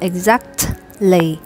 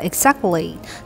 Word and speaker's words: exactly: bạn đọc sai là các bạn hãy đọc là exactly hoặc là exactly thứ nhất là các bạn Sai cái âm giữa là âm D không phải âm S ha và cái âm t ở ngay vị trí đây các bạn sẽ không cần phải bật hơi nó ra đâu khi